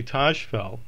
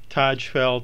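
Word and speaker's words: Tajfel: next up is honorary Tosh fell I've heard his name pronounced the number of different ways Taj fell Tosh felt and also T fall I'll pronounce it Taj fell Taj fell was a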